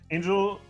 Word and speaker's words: Angel: it written like angel, EL at the end, not LE, how it usually is. Angel EL at the end. Pronounced Angel in German is fishing rod.